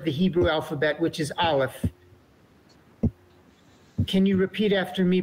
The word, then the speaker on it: aleph: to pronounce the olive which happens to be silent it has no sound of its own it's unique amongst the